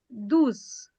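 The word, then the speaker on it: douze: 12 is dus.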